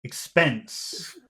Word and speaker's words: expense: and where's the which which syllable has the accent in the word expense expense expense spense spense spense spense so make that big expense expense expense expense